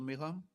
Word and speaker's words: Milham: continue with Ernie Allen and then with Michael Milham. Did I pronounce it right, Michael? Michael Milham? Yes, perfect. Lovely.